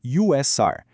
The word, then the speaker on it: usr: A grande maioria vai para um lugar chamado USR, que a gente pronuncia como user de usuário.